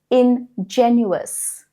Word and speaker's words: ingenuous: They're pronounced differently. Okay, pay attention. Ingenious ingenuous.